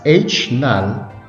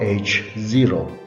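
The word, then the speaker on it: H₀: h with subscript zero it is pronounced as h null or h0 while alternative hypothesis is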